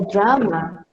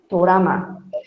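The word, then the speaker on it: 드라마: O drama, no coreano é drama, tá? Não é dorama. Tudo bem? Drama. Os seus alunos, por favor, ninguém falando dorama, tá? Dorama é japonês, tá? Os japoneses não conseguem pronunciar o U, então eles colocaram o, tá bom?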